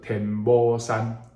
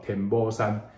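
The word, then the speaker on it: 天姥山: 某翁某，所以伫浙江有一座山叫做天老山，哦，咱闽南人念作天某山，哦，天某山，一个女在一个老，这个字读作某，这里某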